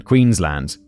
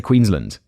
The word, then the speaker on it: Queensland: the city of Brisbane Queensland David specifies land not Lund Queensland I feel like that's